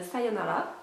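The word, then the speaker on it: さようなら: à mon avis euh sayonala donc qui se prononce comme ça s'écrit les r se disant en L en japonais c'est c'est comme ça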